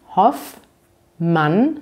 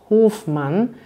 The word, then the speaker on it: Hoffmann: 13 der populärsten namen hoffmann wird so gesprochen hoffmann es sind also zwei selben und ihr seht wieder dieses doppel f deswegen ist das so kurz man sagt also nicht hofmann sondern hoffmann obwohl es von diesem